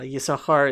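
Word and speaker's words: יששכר: and it's ready sahar for some reason everybody knows that that sin there is is silent almost always um there is a book binayi saskar but um yeah yisakar is written with two sins and it's just i think this is the only silent sin in in the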